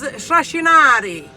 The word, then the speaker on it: shrashinari: The word I've chosen for you is trascinare. There's a lot of S's. Trascinare means to drag. In Italian, you pronounce it a little more clearer.